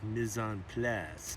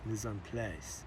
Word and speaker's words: mise en place: I was also counseled by my production assistant that the pronunciation is mise en place, mise en place, mise en place, mise en place. Something like that.